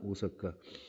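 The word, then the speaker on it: 大阪: 대판은 오사카를 가리키는 겁니다. 오사카. 클대자를 갖다가 일본 애들은 오라고 읽어요. 그렇죠? 그래서 오사카 대판을 갖다 일본식 발음으로 하면 오사카. 우리나라 발음으로 하면 대판 이렇게 되는 거죠.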